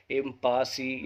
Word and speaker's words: impasse: इसको जब हम सही से प्रोनाउंस करेंगे तो वो आता है इम्पस।